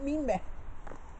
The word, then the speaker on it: Mimet: C'est quand même Mimé. Mais ça s'écrit avec E-T. Oui. Et pas A-I.